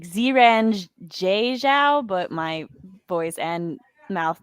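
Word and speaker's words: Xiran Zhao: Yes, it is the one by Jiren Zhao. And that's not actually how you say her name. It's like Ziran Zhao, but my voice and mouth no longer work.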